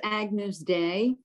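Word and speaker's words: Agnus Dei: yeah all right and it's pronounced agnews day oh good a thick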